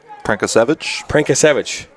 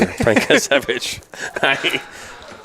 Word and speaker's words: Prenkasevich: Is it pronounced Prenkasevich? Prenkasevich. That sounds better than what I said for sure. Prenkasevich.